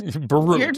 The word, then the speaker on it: Bierut: But your name is pronounced Bierut. It's Polish. Bierut.